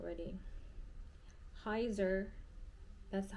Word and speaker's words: Heizer: I'm I'm bad at this I'm not ready Heiser that's the hyzer that's the model name is hyzer it's spelled h-e-i-z-e-r gentle monster hyzer okay so I